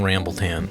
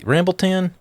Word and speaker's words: RambleTan: RambleTan, three syllables.